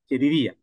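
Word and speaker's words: ידידיה: Es el strón número 30 41 y se pronuncia yidía. Yedidía.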